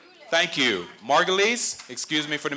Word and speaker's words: Marguilies: further ado let's bring up the lovely morgyles thank you margulis excuse me for the mispronouncing pronunciation mrs and margulies hello ma'am